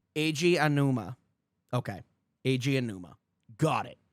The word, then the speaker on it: Eiji Aonuma: Eiji Aonuma. Eiji Aonuma.